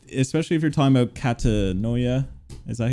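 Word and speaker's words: Katatonia: Especially if you're talking about Catanoia. Is that how you say it? Yeah, Catatonia. Oh yeah, dude, I'm so bad at pronouncing names.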